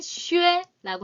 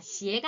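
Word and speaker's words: 靴: 아니라 우리 장화 라인이에요 부추 라인을 중국은 슈에라고 합니다 시애가 아니라 슈에라고 하고요 근데 공통적인 한자요 가죽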